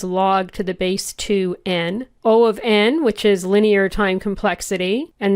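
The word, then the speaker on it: O(n): Now, as I said, you heard me say O of 1 and O of n. That's how you say it. O of, and then the value that's in brackets.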